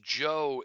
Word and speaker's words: Zhou: But a turning point happens when a lord, the Duke of Zhou, that is pronounced Joe in English, um, he he basically proclaims himself king.